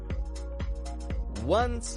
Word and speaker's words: once: notice the word once it's spelled o n c e but the pronunciation is getting this W sound W once in a